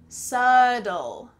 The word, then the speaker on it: subtle: Well, first of all, the B is silent so let's forget about that.